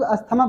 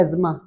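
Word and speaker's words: asthma: India में हम लोग अस्थमा बोलते हैं, जबकि इसका नाम है एज्मा। क्या नाम है? हाँ, एज्मा नाम है।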